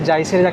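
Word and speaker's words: Jais: এখন ক্যামেরার মধ্যে যে জায়েসের লেন্স দিয়েছে না সনি তরফ থেকে এই জায়েসের স্পেলিংটা হচ্ছে আলাদা জে এ আই এস কিন্তু উচ্চারণটা যে আছে সেটা হিনিতে লেখা আছে দেখছি এখানে সেম জায়েস এখন কড়িকাটে বাজে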